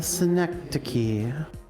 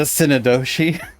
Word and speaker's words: synecdoche: And so I thought it was a synodoshi.